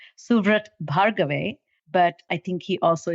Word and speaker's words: Suvrat Bhargave: dear friend and his name name is officially pronounced suat bave but I think he also is fondly known